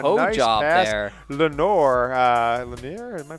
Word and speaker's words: Lenoir: Lenoir, am I pronouncing that right? Well, it's Lenoir.